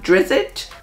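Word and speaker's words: Drizzt: have uh Dungeons and Dragons the legend of drizzit yes that's how you say it you're building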